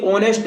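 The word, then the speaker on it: honest: ये इसलिए नहीं आया क्योंकि ऑनेस्ट में जो एच है वो क्या है? साइलेंट है। एच, ऑनेस्ट में जो एच है वो क्या है? साइलेंट है ना।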